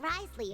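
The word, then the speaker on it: Wriothesley: So much like Risley, always drinking tea.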